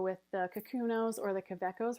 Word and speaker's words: Kaweco: This is the Kaweco Sport. I've also heard it say Kaweco. It's, again, a German pen it has different pronunciations there.